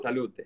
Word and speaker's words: salute: Salute.